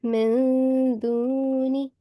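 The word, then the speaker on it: مِن دُونِ: Yeah, and you have to conceal the nasal sound of noon. So this Okay. would be min duni. Can you try? Min duni. A conceal nasal sound for 2 seconds, okay?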